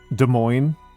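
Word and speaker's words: Des Moines: Uh, for example, it's it's De Moines, but it's Dez Plains.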